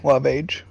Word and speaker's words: Loveage: His name is Jarme Loveage. Jarme, you said? Jarme, yeah, it's Jarme. Loveage. Is that spelled phonetically? Yeah. Just love age.